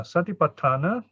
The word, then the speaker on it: Satipaṭṭhāna: In Pali, we pronounce a bit like in Spanish, in Latin, U. We don't say you.